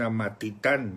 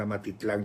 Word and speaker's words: Amatitán: se está casando en Amatitán. Yo lo estaba pronunciando mal, Amatitlán, con él es Amatitán. Es que ustedes son los que saben.